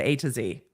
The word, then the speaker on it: A2Z: they pronounce their names his name is like the alphabet a to z okay great um the